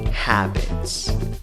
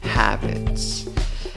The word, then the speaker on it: habits: Lo interesante es que la palabra empieza con H. Esa H la tienes que pronunciar como una J. En la segunda sílaba, aunque la escritura va con una I, la pronunciación va con schwa, la que no es ni A, ni E, ni O. ¿Cómo pronuncias la palabra? Habits. Habits.